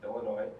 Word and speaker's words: Illinois: I am a senior from Crystal Lake, Illinois, and for all you Minnesotans, yes, the S is silent.